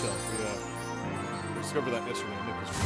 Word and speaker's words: Cherche: It's pronounced Chell.